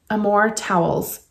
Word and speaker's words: Amor Towles: And this author, I think Amor Towles is how you pronounce the name, has been talked about a lot.